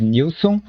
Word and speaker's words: Nielson: diz Nilson, se escreve Nelson, mas se diz Nilson. Só que durante o vídeo eu vou continuar falando Nielson, porque já é um costume, mas quando eu falo Nielson, já entenda que é a pronúncia correta é Nilson.